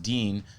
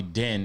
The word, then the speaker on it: Dean: Like my name is pronounced Dean, but people call me Din, and I'm just used to it.